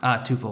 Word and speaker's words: Tuple: So am I pronouncing that right, by the way? Tuple or Tuple? It's actually Tuple. Tuple.